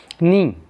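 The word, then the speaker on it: knee: इसका मतलब ये होता है नी, तो यहाँ पे नी लिखा हुआ है, तो हम यहाँ के कि नी क्यों नहीं पढ़ा, क्योंकि साइलेंट है के इसमें, इसलिए हम सिर्फ एन डबल ई नी को यूज में ले रहे हैं।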